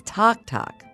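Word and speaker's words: tac-tac: Culinary Institute what is Tok Tok Tok Tok which is spelled tac tac is cajun for popcorn that's because of the Tok Tok Tok sound popcorn makes when it pops at Halloween time in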